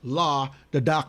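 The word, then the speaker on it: La the Darkman: the dark man his name is pronoun is pronounced law the dark the dark man that's true that's true but I live here in New York okay and when ell the dark man when lot of dark man came out yes we knew his name was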